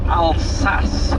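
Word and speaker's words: Alsace: interesting area uh this is called the French alas region that's spelled a l s a c French alas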